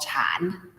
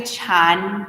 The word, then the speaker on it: Chan: the zing tradition so zen is a japanese pronunciation for a chinese term called chan so it's it looks